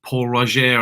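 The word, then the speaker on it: Pol Roger: Paul Roger, I think is how they pronounce it.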